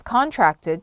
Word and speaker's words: contract: 하지만 계약하다를 제외하고서는 동사로 쓰실 때는 contract 라고 발음하셔야 됩니다. 액센트는 tract 쪽에 있는데요. 앞에 con 이라고 안 하고요. can으로 발음합니다. 그래서 contract 라고 하셔야 합니다.